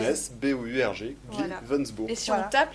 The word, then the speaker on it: Gliwensbourg: très simple à écrire. Comme ça se prononce. G-L-I-W-E-N-S-B-O-U-R-G, Voilà. Glivensburg.